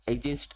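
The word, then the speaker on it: adjacent: तो इसको ना, इसमें क्या होता है कि डी साइलेंट होता है, तो एडजेंस्ट एंगल क्या होता है,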